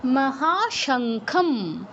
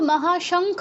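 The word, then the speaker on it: মহাশঙ্খম্: তাহলে এটা কি হবে? মহাশংখম। মহা সংখ এটা কিন্তু মহাশঙ্খ হবে না বা মহাশংখাই হবে না মহাশংখং হবে না ম উচ্চারণ করতে হবে হ্যা বলুন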